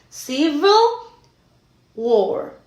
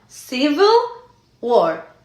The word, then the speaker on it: Civil War: La clave aquí está en decir la V bien dicha. Civil War, no Civil War. Civil War.